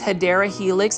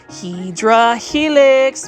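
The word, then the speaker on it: Hedera helix: been to this channel I mispronounce hadera Helix as hedra Helix because that's kind of like a plant foldy staple so um don't be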